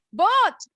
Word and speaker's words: bought: How do you say that word? Mic-nya belum on, Abiu. Bot. One more time. Bot. Nggak ada bunyi U-nya. Bot.